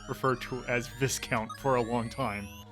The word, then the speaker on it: Viscount: Yeah, it's Viscount.